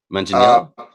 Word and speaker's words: Manganiello: Manganiello?